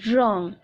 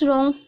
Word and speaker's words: wrong: right wrong wr1 ng wrong okay unless wrong W is silent now fifth one this